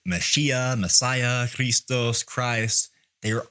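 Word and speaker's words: מָשִׁיחַ: So, we have the English word Christ, transliterated from the Greek word Christos, which is translated from the Hebrew word Messiah, pronounced Mashiach. So, whether we say Mashiach, Messiah, Christos, Christ, they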